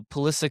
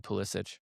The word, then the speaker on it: Pulisic: No, Pulisic says his name wrong. It should be Pulisic.